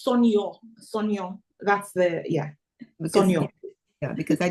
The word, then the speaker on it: Sonia: So it's like saying Sonia. Sonia. But it's Sonyo.